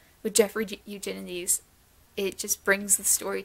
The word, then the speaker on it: Jeffrey Eugenides: him the next book is middle sex by jeffrey eugenides and yes that is how you pronounce his name i looked it up before